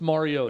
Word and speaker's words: Mariota: Well, it's Marcus Mariota.